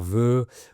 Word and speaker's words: vœu: “Bonne santé” ou “Meilleurs vœux” ou encore “Tous mes vœux de bonheur”, par exemple. Un vœu s’écrit “v-œ-u” et c’est la même prononciation que la conjugaison au présent du singulier du verbe vouloir “je veux, tu veux, elle veut”.